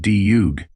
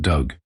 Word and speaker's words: Doug: It's pronounced Dug. What? Ellie squinted at him. My name is pronounced Dug. Not Doug.